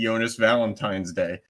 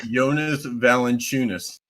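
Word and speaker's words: Jonas Valančiūnas: and Charles Barkley because Charles Barkley just calls him basically yonas Valentine's Day uh his name is yonas valent chunis all right well boom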